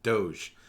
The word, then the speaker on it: DOGE: Doge and I hope everybody knows how to pronounce that properly Doge the point of using a blockchain is that